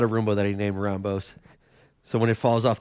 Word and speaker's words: Roumbos: Roumbos, that's how it's pronounced, but I go by Roumbos, however you want to say it, a.k.a. Rambo. I thought it was Roomba. Yeah, I've gotten that too.